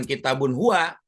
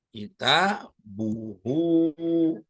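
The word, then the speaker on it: كتابه: Kitabun plus huwa, maka dibacanya bukan kitabun huwa. Kita buhu.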